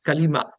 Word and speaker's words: Kalima: And if they claimed they were Muslim, they had to recite what South Asians called Kalma. And the Arabs probably pronounce Kalima.